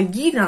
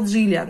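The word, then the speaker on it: Gillian: никак не могу уложиться, почему она была Гиллиан, а стала Джиллиан, да? Потом, конечно, я поняла, что это самое, что там эта буква по-английски, вот эта G, да, и читается она, по идее, как G, но по правилам русского языка вот эти первые самые переводчики, они обязаны были называть ее Гиллиан Андерсон. А потом пошел всемирный интернет,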